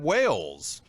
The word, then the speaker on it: Wales: have a very special guest to Mr Brad Wales oh they're excited Brad Brad did I pronounce the last name correctly yeah absolutely and